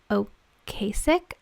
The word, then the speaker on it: Ocasek: Oh, okay, it says here, Rick, I want to say Ocasek.